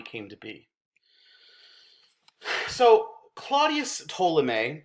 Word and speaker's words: Ptolemy: to be so claudius ptolemy that p is silent it's ptolemy is an egyptian-born greek